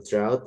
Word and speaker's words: drought: Kalau drut kekeringan. Eh, ini ada GHT ya, Guys. Kalau ada GHT tuh GH-nya enggak usah dibaca-nya aja.